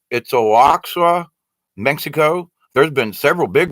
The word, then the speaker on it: Oaxaca: But Peru has been hit, off the coast of Guatemala again, and I can't pronounce this. It's Oaxaca, Mexico.